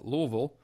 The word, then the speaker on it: Louisville: to go get a car and drive to Louisville which is the proper pronunciation and so I will have a good